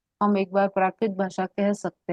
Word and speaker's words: प्राकृत: कि क्या एक्चुअली क्या प्राकृतिक क्या होता बोल है, रहा था. प्राकृतिक नहीं है, शब्द है प्राकृत.